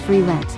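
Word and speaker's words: Frieren: It's pronounced free rent.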